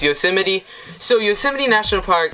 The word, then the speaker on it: Yosemite: a simony National Park some people might pronounce it yo smite cuz that's how it's spelled but that's okay it's Yosemite so you 70 National